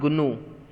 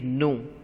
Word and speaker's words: gnu: It is not gnu. Still many of you are mispronouncing it. It is gnu. G is silent in the beginning.